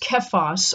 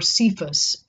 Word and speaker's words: Cephas: The Hebrew name is, I believe, is pronounced Kephas or Cephas.